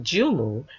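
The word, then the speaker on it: joumou: Haitian pumpkin soup called soup jumu pronounced jumu in Haitian Creole I assure you it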